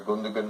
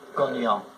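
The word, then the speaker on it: Gündoğan: The midfield player, Gundogan, I don't think you pronounce it that way. Gundogan.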